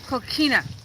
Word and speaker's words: coquina: Pronounced coquina, a locally quarried soft shell rock, and you can actually see it when on the sides.